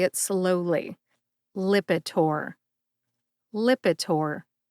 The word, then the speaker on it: Lipitor: Lipitor has three syllables lip like the lips on your face I which is a short eye sound it is similar to the ey that's in the middle of the word president I and tore like my son tore the wrapping paper off his birthday gifts put all three syllables together and you get lipor emphasize that first syllable lip see if you can